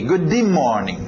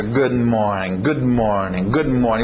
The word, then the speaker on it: good morning: O que você vai ter que fazer no inglês é engolir esse D. Ou simplesmente, para não entrar nessa de, ok, todas as vezes que eu tiver consoantes eu vou engolir, não sei o quê. Não, faz o que é natural. Treina isso. Relaxa. Good morning. Você vai ver esse D ficar meio engolido, mais suave, ok?